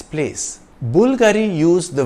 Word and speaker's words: Bulgari: sotirio Bulgari in Italian the emphasis is on the first part of the name Bulgari the Bulgari logo is